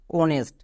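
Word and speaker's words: honest: উচ্চারণ হচ্ছে না নেক্সট অনেস্ট এখানেও এইচ এর পরে ও আছে তার মানে এইচ এর উচ্চারণ করবো না ও এন ই এস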